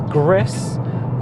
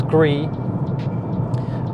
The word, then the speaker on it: Gris: We played Gris, which I mispronounced as Gris, because it's actually French for grey, so it's Gris.